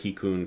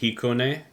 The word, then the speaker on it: Hikone: And you'll probably want the Hikun Castle. I don't know if I said that right. Future me has found out that it is pronounced Hikone, or something to that tone, and that will help tremendously.